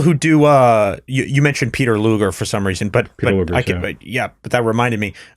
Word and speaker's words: Peter Luger: from Peter Luger okay Peter Luger's it's Peter it's actually just Peter Luger is it really yeah